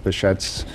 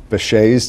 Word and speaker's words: Behçet: the treatment of bashet I have to compliment you on your pronunciation of the the condition because most Americans say bé disease like the uh the jazz musician all right in Turkish I think it's actually bead's disease oh okay well I